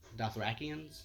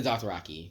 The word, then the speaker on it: Dothraki: And who are the Dothrakians? The Dothraki.